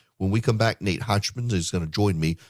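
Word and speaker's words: Hochman: Review Nate hotman Nate am I misspelling or mispronouncing your last name hotman no you nailed it which is um unusual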